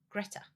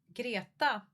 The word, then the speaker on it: Greta: Greta, but girata uh would be the correct pronunciation.